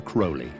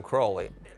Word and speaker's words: Crowley: Some people pronounce his name Crowley and some Crowley. In his own writings, he said, "It's pronounced crowley. It rhymes with holy."